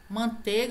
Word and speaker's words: manteiga: Manteiga, é o mesmo caso, falta um i.